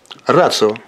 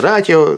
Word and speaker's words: Ratio: И поэтому читается как «ци». «Рацио». Иногда произносится «ратио», я не знаю, каждый на свой манер произносит, но неправильно это.